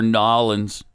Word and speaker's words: New Orleans: Tampa over Nolans. 5-4. They love it when you say it like more that. on trivia. Well, yeah, because that's how they say it.